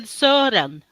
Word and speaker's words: Søren: Yeah, but I would say Søren. That would be the more correct Scandinavian way to pronounce his name, because his O used to have 2 dots over it.